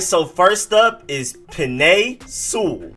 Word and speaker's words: Sewell: all right so first up is pine soul not pine eyes suell or cell or i used to say pine cell i